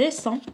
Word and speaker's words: descend: La mère descend, كنقولوا descend, donc D ما كنطقوهاش.